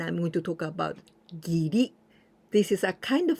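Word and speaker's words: 義: The first one that we pronounce gi, this means righteousness and justice.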